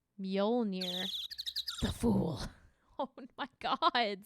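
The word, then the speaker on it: Mjölnir: probably keep it on right now oh it's pronounced mjolnir the fool oh my god scout an overhead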